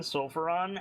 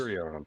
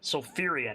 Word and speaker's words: Sulfurion: We've been saying Sulfuron, and that's not even me. That's not the correct pronunciation. It's just Sulfurion. Sulfurion. It's hard to say. That's what I've been saying, isn't it? Okay, I've been saying Sulfuron. Sulfurion is his name. Sulfur Eon. Sulfur, like fear, like be afraid.